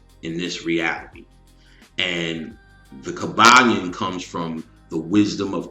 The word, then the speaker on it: Kybalion: And this is something called the Kybalion or easily found on the web as the Kybalion. And it's spelled k y b a l i o n.